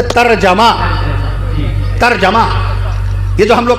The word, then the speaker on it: ترجمہ: آپ لوگ جو یہ کہتے ہیں ترجمہ ترجمہ ترجمہ کر دیجئے، ترجمہ کر دیجئے. صحیح تلفظ ہے ترجمہ.